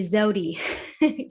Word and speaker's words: Zewdy: Is that how you pronounce it? It's actually Zewdy.